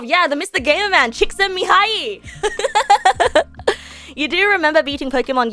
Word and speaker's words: Csikszentmihalyi: Mihaly Csikszentmihalyi.